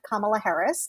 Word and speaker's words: Kamala Harris: but um future nominee on the democratic side kamala harris that's how it's pronounced for those still figuring it out california